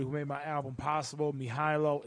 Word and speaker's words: Mihajlo: Mihailo, it's out now. It's spelled Mihajlo.